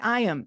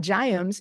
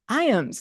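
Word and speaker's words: Ijams: Another Dutch name, it's pronounced Iam, as in the dog food. Okay. Iams, Iam, I, J-I. It's not Jiams, it's Iams, because J's and Y's very often have that kind of a silent pronunciation.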